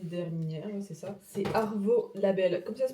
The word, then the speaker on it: Arvo: C'est Arvo Label, comme ça se prononce, A-R-V-O.